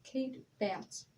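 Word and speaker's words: Batts: and it named itself kate bats i think i'm pronouncing the last name right i'm not exactly sure it's b-a-t-t-s kate bats kate baths with a k-a-t-e yes yep and kate had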